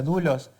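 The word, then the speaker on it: δοῦλος: que esa palabra siervo en original griego que se pronuncia dulos ese esclavo lo habrán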